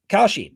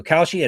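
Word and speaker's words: Kalshi: Um, Koshi, now we just partnered up with Khi, a real money production market legal in all 50 states.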